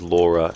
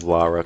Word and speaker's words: Lara: but it could be I think the best way to think about pronouncing Lara's name for people with American accents is if you think about the word the name Cara when you say Cara you don't say Kora instead of Cara I know if you